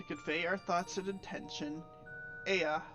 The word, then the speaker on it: Ea: When the vibration of vocal folds was still required to convey our thoughts and intention, Ea, I believe, was a pronunciation used when referring to our people.